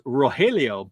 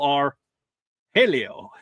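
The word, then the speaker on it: Rogelio: re cuz my my name in in Spanish class was always Roelio, but it it was supposed to be pronounced R. Roll R. Helio.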